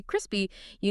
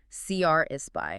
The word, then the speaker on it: crispy: And when you say crispy, you need to make sure you put the weight, the stress on that first syllable. CR is spy, right? CR is spy. If you accidentally stress the second part, crispy y. It just sounds a bit flat, kind of unclear. You want that strong almost like punchy sound at the start.